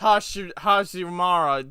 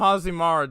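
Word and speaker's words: Hashirama: Oh, wait, he mispronounced Hashimara, didn't he? Called him Hazimara, didn't he?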